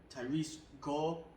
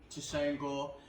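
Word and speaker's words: Tresean Gore: Cody Brandung versus Tyrese Gore. No, I said that name wrong. Tusain Gore.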